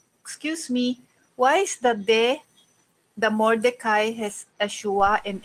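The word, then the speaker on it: מָרְדֳּכַי: So it's mo, do chai, mo do chai.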